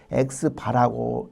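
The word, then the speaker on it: x̄: 그리고 그 표본의 특성을 수치로 표현한 것이 통계량인데, 똑같이 우리가 아까 한 것처럼 표본의 평균은 X바, 우리가 X하고 이렇게 요 바라고 하는 것은 우리가 막대라는 표시지만 X바라고 읽습니다.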